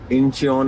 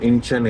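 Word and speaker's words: Incheon: तो सोल होता है, इंचियोन एयरपोर्ट नहीं है, इंचन एयरपोर्ट है। तो ई जो ई का साउंड है दोनों वर्ड में वो नहीं है, ऐसा मानो ई है ही नहीं, ठीक है।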